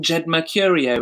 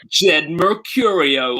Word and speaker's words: Jed Mercurio: a second point, Ash, you've been pronouncing the name Jed Mercurio as if it's a normal name, and I can't have that. So, like, you should be saying Jed Mercurio, or just say it like that maybe next time.